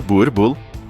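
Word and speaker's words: Boerboel: O Boel, pronunciado Burbull.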